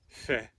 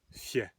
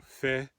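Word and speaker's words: fé: So the first rune is Old Norse pronunciation, fe, modern Icelandic pronunciation, fje. So fe or fje.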